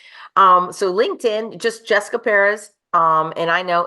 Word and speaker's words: Perez: so LinkedIn just Jessica Perez um and I know it's p r z I say it Perez because that is the correct pronunciation but um um I'm